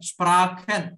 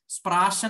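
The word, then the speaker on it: Sprachen: Okay, അതുപോലെ ലാംഗ്വേജിന് സ്പ്രാഖൻ എന്നുള്ളതിന്റെ പകരം സ്പ്രാഷൻ എന്നൊക്കെ പഠിപ്പിക്കുന്നവരുണ്ട്, തെറ്റാണ്, അതൊക്കെ ശ്രദ്ധിക്കുക, അതിനൊക്കെ മാർക്ക് ഇവിടെ നിങ്ങൾ അഫക്ട് ചെയ്യും.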